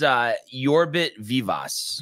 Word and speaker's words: Yorbit Vivas: It's Yorbit Vivas.